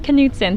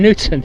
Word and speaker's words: Knutson: It's pronounced Knutson. Thanks for asking. Knutson. Knutson, yep. Well, we never know what to do with those K's when it comes to Scandinavians.